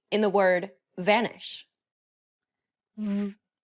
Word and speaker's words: β: Β, γ, γ, β, ζ, κ, κ, λ, λ, μ, ν, ν, ξ, π, ρ, ρ, σ, τ, φ, χ, ψ.